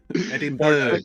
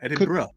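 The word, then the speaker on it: Edinburgh: are in Scotland yeah card bright Ki what Edinburg no edin BR but it says Edinburg no edin BR is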